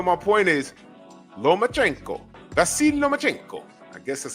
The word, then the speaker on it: Lomachenko: Vasil Lomachenko.